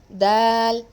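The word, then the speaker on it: د: Dal. It's a simple letter. Dal. This letter is emitted from the tip of the tongue.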